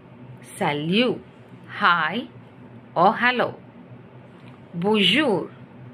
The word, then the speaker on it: bonjour: salute hi or hello bonjour bonjour where n is not that much stressed which means good morning